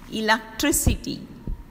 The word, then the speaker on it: electricity: The next one is words ending in ity take the accent on the anti-penultimate syllable. Anti-penultimate means third syllable from the end. The last syllable is called ultimate. Last but one is called penultimate. And third from the last is called anti-penultimate syllables. Generosity, electricity.